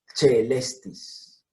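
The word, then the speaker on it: caelestis: Aquí está el Agliocercus celestis. ¿Por qué celestis y no quelestis? Ahora lo veremos. C con E se pronuncia che. Celestis.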